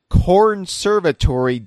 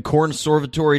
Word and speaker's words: Cornservatory: o r y so like like Conservatory with an r in the first syllable right but instead of con it's corn corn yes yeah so um